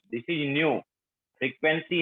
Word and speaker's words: nu: This is नॉट we, this is new. Frequency है ये भी फ्रीक्वेंसी है। फ्रीक्वेंसी को हम न्यू से रिप्रेजेंट करते हैं ना, बताया होगा ना मैम ने। NU, न्यू प्रोनाउंसिएशन होगा इसका, न्यू।